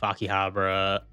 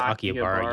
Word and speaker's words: Akihabara: Akihabara. Akiabara. How do you say it? What is the We went over this before. I think it's Akiabara. You said it. Akibara is what I was always saying.